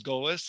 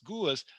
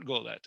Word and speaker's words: galut: Exile is golis, and in some dialects gulis, but not golet.